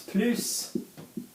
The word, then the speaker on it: plus: basic basic rough rule PLU will be plus if you're talking about something in a positive more way and Pluto if you're talking about something in a not anymore way apart from with adjectives